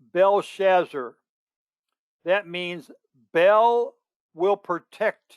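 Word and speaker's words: Belteshazzar: his chaldean name is t is silent and the e is silent belshazzar that means bell will protect him some people pronounce it belt shazar or belt to shazzar and it's the chaldean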